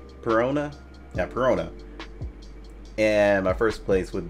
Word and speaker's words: Perona: Yeah, Perona.